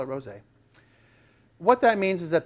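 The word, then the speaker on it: rosé: lot of people want to call it the rose wine but it's pronounced rose a so we'll call it rose a what that means is that the wine generally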